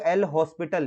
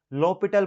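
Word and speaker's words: L'Hôpital: बोलते हैं आप लोग बोलते हो एल हॉस्पिटल यहां पे एच जो है साइलेंट रखना होता है लॉ पिटल बोलते हैं इसको इसको हम लोग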